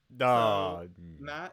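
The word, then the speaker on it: Maet: is matt um it's the ae no it's pronounced matt matt you have expertise in heavy lifting lucas thoughts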